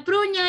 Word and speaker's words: prugna: No, la prugna è il. Ay, non lo conosco. Bueno, Milenka pronuncia.